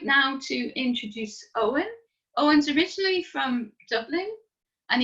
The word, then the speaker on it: Eoin: as jane said my name is owen if you can see my name on my screen you will know that i now benefit from the new linkedin feature where you can record the pronunciation of your name um i've had some interesting ones over the years including eon oyen and my favorite was i